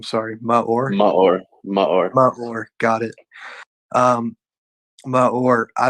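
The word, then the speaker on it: Maor: dealing with my whole life trust me it's pronounced ma or m-a-o-r like mud i'm not like m-u-h yeah my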